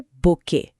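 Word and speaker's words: bouquet: Spelling से याद आया हमारा अगला वर्ड है बुके। जिसमें आखिरी टी साइलेंट होता है।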